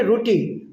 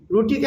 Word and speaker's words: রোটি: মানে রুটি। রুটিকে আমরা নেপালিতে বলব রোটি। একটু টানবেন। রোটি।